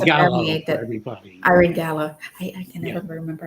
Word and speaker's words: Gallo: Irene Gallo. I can never remember how to pronounce the last name, so I was aware. Yeah, it's like the wine, Gallo wine.